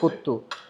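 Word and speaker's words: Kothu: পাশাপাশি আমরা আরেকটা আইটেম নিছি এটার নাম হচ্ছে কুত্তু এই যে কে ও টি এইচ ইউ এটাকে ওরা হচ্ছে লোকালি বলে প্রোনাউন্সিয়েশন হচ্ছে কুত্তু এটা এটার প্রাইস হচ্ছে 800 রুপি যেটা বাংলাটাকে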